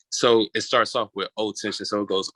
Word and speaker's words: Otenxion: you said the old name was, well, how do you pronounce it? It was O Tension, O Oh, T tension.